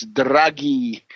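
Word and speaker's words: Draghi: And this is this character draggy. D R A G H I. It's draggy. Uh a hard G.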